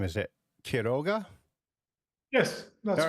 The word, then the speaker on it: Quiroga: Is it Quiroga?